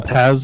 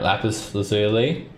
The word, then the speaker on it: lapis lazuli: lapaz, or how do you say that? Alright, lapis lazuli.